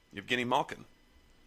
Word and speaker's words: Evgeny Malkin: Oh, well, hold on to get the proper pronunciation of his name. Evgeny Malkin.